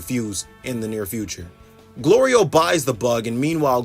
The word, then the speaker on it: Glorio: Glorio buys the bug, and meanwhile Goku's mispronouncing his name Goliro while I call him Glory Hole.